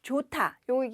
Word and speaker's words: 좋다: 우선 앞에서 설명드린 것처럼 좋다요 이제 길게 발음하는 거예요 좋다 좋아하다 이렇게 발음하시면 되고요 좋다는 형용사 좋아하다는 동사